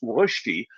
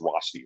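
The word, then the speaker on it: Rösti: I mean, it's actually pronounced Swiss Rosti, the R and the O with the umlaut over it. That's how you pronounce it. Now I've westernized it. It's Rosti, right?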